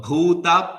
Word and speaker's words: bhūta: You should have to pronounce this word bhūta properly, because there is Tamil people, they have only one pa for pa and ba. Pa, pa, ba, ba, for everything they will have only pa, only one pa.